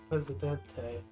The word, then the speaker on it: Presidente: Second, it's pronounced Presidente, but President is also good for his character.